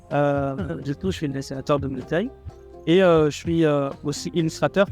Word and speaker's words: Mukai: Comment tu le prononces, Mukai? Ok, c'est ça. Mukai.